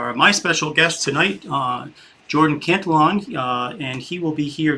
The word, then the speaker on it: Cantelon: It is Jordan Cantelon.